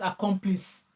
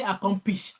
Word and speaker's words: accomplice: Mr Ben for being he can't even pronounce accomplice he say accomplish accomp accomp accom accom and I'm like Mr Ben accomplice pronounce accomplice go check the spelling and learn to pronounce accomplice well it's not accom like I said I